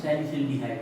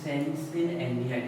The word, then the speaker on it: salicylaldehyde: formed, also called salicylaldehyde, या फिर hard pronunciation करना हो तो सैलिसिल्डिहाइड बोल देते हैं, और अगर आपको स्लो प्रोनाउंसिएशन करना हो तो बोल देते हैं सैलिसिलएल्डिहाइड। एक जुड़ा हुआ है पूरा ना आपस में कनेक्टेड है, सैलिसिलएल्डिहाइड या फिर फास्ट बोल सकते हो सैलिसिल्डिहाइड।